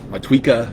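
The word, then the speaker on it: Motueka: So many people say I will never take these hops and actually try to pronounce it correctly. so many people because I say it wrong. different. Matueca, Matueca.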